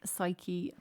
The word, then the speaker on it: psyche: Neo, Dumbo, Pull, Mnemonic, Psyche, Babe, Knee. We've got some weird letters like mnemonic, gnome. I've got silent letters at the front, so Psyche. And knee.